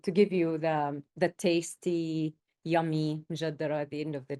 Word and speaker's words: M'jaddara: in this, and also the variations in the pronunciation and also the spelling as well. But it's mjaddara.